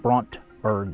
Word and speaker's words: Brandberg: eight, we drove across Demarland and saw the Brontberg Mountains, which are the tallest mountains in Namibia. And again, Brontberg is spelled Brandberg, Berg G, Brandberg Mountains, but they pronounce it Brontberg Mountains.